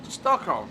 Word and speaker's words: Stockholm: So that's how it's pronounced in actual Swedish, whereas Stockholm is pronounced Stockholm, which I find quite funny, because they're just so totally different.